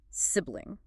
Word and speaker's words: sibling: start with the word sibling the correct pronunciation is eish so it sounds like sibling with the emphasis on the first syllable and and a short I sound sibling sibling okay another word